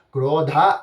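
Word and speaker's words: क्रोधा: இதை எப்படி சொல்லணும் அப்படின்னா, குரோதா அப்படின்னு சொல்லப்படக்கூடிய வார்த்தையில வரக்கூடிய தா ஆனது 4வது தாவாக இருக்கிறதுனால கொஞ்சம் அழுத்தி சொல்லணும்.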